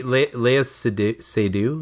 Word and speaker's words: Léa Seydoux: I'd hate to see Léa Seydoux.